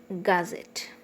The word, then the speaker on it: gazette: Gazette. Okay, gazette. Z is the last syllable, so it is the stress is marked on Z.